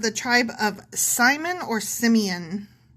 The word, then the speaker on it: Simeon: Not Samoan.